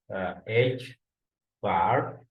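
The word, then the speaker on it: ħ: Basically, this parameter pronounced as h bar.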